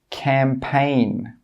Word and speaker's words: campaign: When we have a G and it's before an N, the G sound is normally not pronounced. Some common examples are design, sign, foreign, Nash, campaign. In all of these words, we're not pronouncing that G sound.